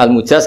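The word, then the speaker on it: المجاز: Saya tidak perlu nulis sanad lagi karena sanad itu untuk al-mujaz, bacanya al-mujaz karena dari fi'il madhi ajazah.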